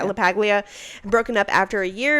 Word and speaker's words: LaPaglia: I'm guessing it's LaPaglia. Okay, yeah, LaPaglia.